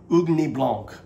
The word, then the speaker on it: Ugni Blanc: if I'm saying it right, but it's called Ugni Blanc, okay?